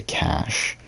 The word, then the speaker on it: cache: i mean like like that's supposed to be cache right because like it's a french term right then like i feel like most like americans say cash anyway we're still going